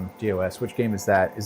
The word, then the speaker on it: DOS: DOS.